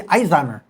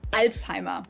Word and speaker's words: Alzheimer: I'm going I say Ezimer. Alzheimer, not here in the USA. In Germany, where the disease was first identified in the early 1900s, we call it Alzheimer. There's the Z letter again.